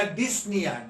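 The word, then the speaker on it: dyspnea: डिस्पोनिया, यहाँ पर पी और ओ का प्रोनाउंसिएशन नहीं आएगा, तो क्या आएगा, वर्ड आएगा डिस्निया।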